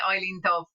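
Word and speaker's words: Eibhlín Dubh: And some people call her Evelyn, some people call her Eileen, and there's all different ways of pronouncing her name, you know, but like I would naturally say Eileen Dubh.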